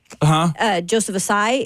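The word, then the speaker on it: Ossai: But is it Osai, Joseph Osai? Joseph Osai is I think how you pronounce the wide receiver. That's how you pronounce it.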